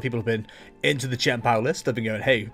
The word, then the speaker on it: Chien-Pao: I've been told that CH makes a hard K sound, so we'll go Chien-Pao. Yeah, sure, that works.